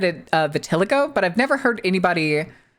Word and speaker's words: vitiligo: Okay, vitiligo.